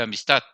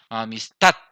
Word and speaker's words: amistad: Entonces, aquí tenemos un ejemplo de amistad. Amistad, amistad. Entonces, en D tenemos la mayor fuerza, es en TAC.